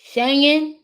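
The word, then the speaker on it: Schengen: Uh, the English dictionary says it's pronounced Shang N. Shangen.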